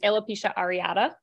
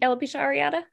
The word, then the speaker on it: alopecia areata: I think it's alopecia areata.